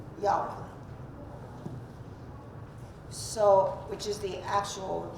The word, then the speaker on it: Yahweh: taken Hebrew know that there is no J in Hebrew right that's why Jehovah is not Jehovah in Hebrew it's Yahweh so which is the